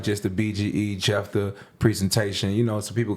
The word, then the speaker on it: Jefthah: i know it's unique that's actually my name so jeff the that's how it's pronounced but it's spelled j-e-f-t-h-a-h and that you type